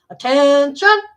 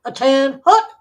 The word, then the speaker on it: attention: They told her it was they told us it was attention, not a tin hut. They said a tin hut was a dwelling, not an order.